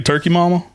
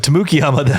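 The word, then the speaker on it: Tamukeyama: People can say Turkey Mama? I hear people say Turkey Mama all the time, but Tamukiyama, that can be a little more difficult.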